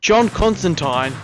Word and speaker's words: Constantine: Number 10, John Constantine. Yes, it's pronounced that way.